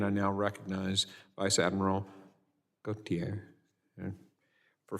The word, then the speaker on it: Gautier: It's Gautier, sir, unless you're in Mississippi, and that's Gaucher.